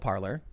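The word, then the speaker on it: Parler: look at parlor apparently now it is called parlor even though it's spelled parlay say tell me parlor tell me what it's pronounced parlor no I know who said that first the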